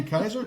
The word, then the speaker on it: Keiser: uh uh twice mastered degreed um uh Kaiser. Is that how you pronounce it?